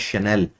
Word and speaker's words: Chanel: It is pronounced as Chanel.